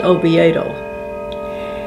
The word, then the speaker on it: Oviedo: And the reason he named it, it should be pronounced Oviedo, was he traveled before he came over here. And then he even went back over to Europe several times. And he had been to Oviedo, Spain. And he thought, since Florida